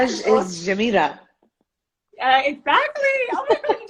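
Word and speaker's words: جميلة: Jamila.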